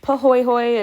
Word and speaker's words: pahoehoe: um pahoehoe it's pronounced pahoehoe it is hawaiian word with respect please pronounce